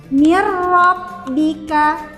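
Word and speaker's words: مِن رَّبِّكَ: Untuk contoh yang kedua ini apabila nun sukun bertemu dengan huruf ro berarti kita meleburkan nun sukunnya ke dalam huruf rnya dan tidak digunahkan atau tidak didengungkan. Contohnya atau cara membacanya mirbika lagi.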